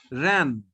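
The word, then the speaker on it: reine: Ran. N is pronounced here. Ran. N is pronounced. So it is ran.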